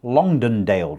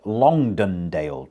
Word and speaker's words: Longdendale: We are presently on the Longdendale It's difficult for me to say. Uh you try it. Longdendale Trail. I don't know why that's so difficult to say. Longdendale Trail. Three syllables.